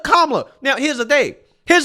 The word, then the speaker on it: Kamala: mispronouncing KLA Harris's name you're calling her camela right instead of KLA now here's the thing